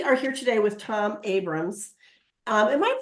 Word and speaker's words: Abrahams: and we are here today with Tom Abrams um am I pronouncing your name correctly Tom your last name you are you are it's Tom Abrams yes and Tom is um excuse me he's